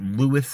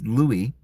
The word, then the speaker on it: Louis: King Louie the uh I don't know whether you pronounce it lwis or Louie I suppose you could pronounce it both ways here in America I think we all a lot of us say lwis but it's Louie and King Louis the